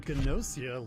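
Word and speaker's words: Gnosia: tonight you'll be fine i wasn't sure if it was genocida or nausea because gn is usually can end with the silent g if that makes sense it's a fascinating spin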